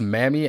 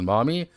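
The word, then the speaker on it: Mami: I've heard it pronounced Mammy as well as Mommy.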